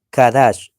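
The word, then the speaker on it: קדש: Sin embargo, el Eloh de Israel les otorgó el título de Kadash. Kadash. Y aquellos cananeos que vivían en Canaán, pues nos pronunciaban como si fuéramos Cados, pero no es Cados, ¿ve?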